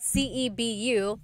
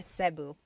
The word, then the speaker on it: Cebu: So, technically in the Tagalog alphabet, the letter E can be pronounced E or E like the letter I. So, I say Cu. Cebu. And I know some people say su, but usually it's either Cu or Sebu.